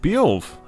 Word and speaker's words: Beowulf: You've come to I was even pronouncing it correct. Beowulf.